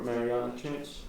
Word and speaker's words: Mariana Trench: Well, how do you say that? The Mariana Trench. Mariana Trench, bro. Mariana Trench. Am I saying it right? Yeah. Marinara. Nah, bro, that's it. You're right.